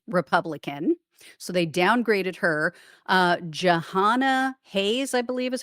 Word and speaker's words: Jahana Hayes: Jahana Hayes, I believe is how you pronounce it, was likely Democratic.